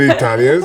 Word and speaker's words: Italia: in Italy Italy and Italians I mean they write the correct way of pronouncing Italy in Italian by the Italians is Italia Italia ital ital it